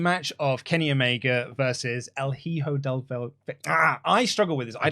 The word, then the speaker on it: El Hijo del Vikingo: El Hijo del Vikingo. El Hijo del Vikingo. Say it fast now. That's how you pronounce El Hijo del Vikingo.